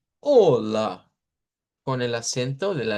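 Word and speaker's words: olá: De hecho, aquí no está, pero nosotros podemos decir en portugués así con acento en la a hola. Y claro, por supuesto, esa a que se pone ahí es esta, esta misma. Por eso se escucha como con fuerza que al final hola, hola con el acento de la lengua pois.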